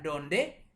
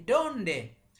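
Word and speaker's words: dónde: mau tekankan beberapa hal perhatikan setiap ada tile huruf di atasnya kode garis di atasnya itu menunjukkan penekanan disitu harus ditekan sih dia atau disini donde jadi bukan donde tapi donde atau disini kwantas dia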